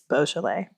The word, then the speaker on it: Beaujolais: do you like Beaujolais I just recently learned this and I was saying it wrong for like months I said boujolais because I thought it was bougie but it's Beau Chile so my bad delicious